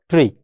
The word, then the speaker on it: trie: the pronunciation of this try we can just call it as try or some other users say is it has tree now we can call